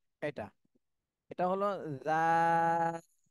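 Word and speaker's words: ذال: এটা তিন আলিফ টান দিতে হবে একই জায়গা থেকে জিহ্বার আগা সামনের উপরের দুই দাঁতের আগার সাথে লাগায় একই জায়গা থেকে উচ্চারণ হবে। এটাও নরম হরফ, নরম ভাবে উচ্চারণ করতে হবে।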